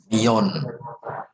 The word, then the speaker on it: millón: Ingat, double L itu double Y. Iya. Million. Union. Betul. Un million itu 1 juta. Nah, kalau juta baru kenal jamak ya. Kalau 1 juta itu un million.